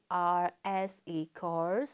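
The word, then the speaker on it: coarse: the next words okay this is course and course c-o-a-r-s-e course c o u r s e course course and course they are also same pronunciation and the difference of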